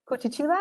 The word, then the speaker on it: Curitiba: and the owner of her restaurant Manu in Curitiba. I hope I pronounced that right.